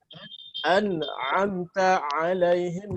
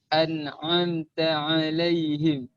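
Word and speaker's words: أنعمت عليهم: Membaca ain dengan hamzah. Hamzah. An'amta alaihim dibaca An'amta alaihim. Dibaca an'amta alaihim. Paham? Ini tentu keliru ataupun kesalahan fatal. Karena sudah merubah huruf, merubah maknanya. Ini termasuk kepada kesalahan jali. Kesalahan jali.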